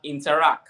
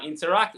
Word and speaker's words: Interac: You also have Interac. Now, Interac is spelled interact, but take out the T at the end, and you have Interac.